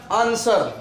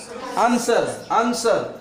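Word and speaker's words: answer: है एस के बाद यहां पे लिखा अन एस व ए आर ए एन एस व ए आर आंसर क्या आंसर आंसर का जो है व बड़ा नहीं जाएगा आंसर यहां तक ए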